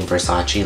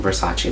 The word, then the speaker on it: Versace: I also want to own it like something Versace like I always want to own something Versace like me me like a shirt from them